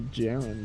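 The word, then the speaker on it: gerund: can know what a jiren is the're old JN spelled g e r u n d everyone loves jirens or it's a Garand I'm pretty sure it's pronounced like J like Jaren though new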